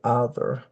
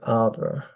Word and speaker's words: either: So they say either. You can hear either. So you can get either either or either. You can get all three of those pronunciations in the United States.